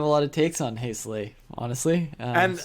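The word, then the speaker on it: Heisele: on hazel honestly and i'm pretty sure i got that pronunciation from him he went to school colorado of all places i think he's german born i i don't know now um so he said his name that way so i'm pretty confident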